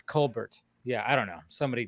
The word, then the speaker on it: Colbert: It was supposed to be Colbert, not Colbert.